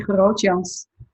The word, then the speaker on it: Grootjans: Well, in Dutch you say Grootjans, and it means like groot means big, and tall.